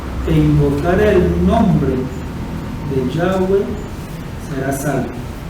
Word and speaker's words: Yahweh: Pero ¿cuál es la pronunciación correcta del nombre? Yahweh, Yud-Hei-Vah-Hei, Yahweh. ¿Sí?